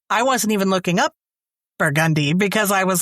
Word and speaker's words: Burgundy: It's not Burgundy Street. It's Burgundy Street. I did not know that.